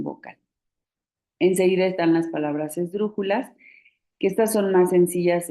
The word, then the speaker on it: esdrújulas: Si contamos las sílabas, la última sílaba sería las, la penúltima sería ju y la antepenúltima sería dru. Entonces es una palabra esdrújula y por eso lleva acento.